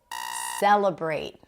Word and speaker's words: celebrate: Celebrate. First syllable. Celebrate. Not celebrate or celebrate. Celebrate. Primary stress.